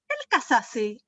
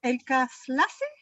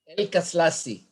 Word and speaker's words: Elkaslassy: Always last year during my lives, I was saying Elkaslassy. I don't know why I got it that way. And now I think it's Elkaslassy, right? Yes, Elkaslassy. Yeah.